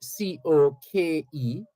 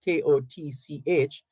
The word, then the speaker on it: Koch: Frederick Koch, that's spelled Koch, but pronounced Coke, Mr. Frederick Koch of Guilford, Vermont, got tired of people pronouncing his last name Koch, Kotch, and changed his last name to Coke is it.